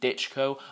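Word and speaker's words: Dychko: Jermaine really looked like how he looked in his last fight against Ivan Ditchko. I have now found out how you pronounce his name. It's Ditchkco. He was quite slow again.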